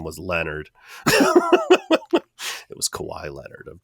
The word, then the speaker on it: Leonard: Spoke good English, but like was unfamiliar with the name Leonard. And he's like, it's not Leonard, it's Leonard. And she's like, Leonard. And he's like, you don't pronounce the O, it's Leonard.